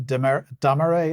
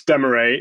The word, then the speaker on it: Demaret: But Charles, tomorrow at 1 p.m, you are interviewing Laura Damaret. Is that how you pronounce her name? Well, I was unsure as well, but no, it's Demaret.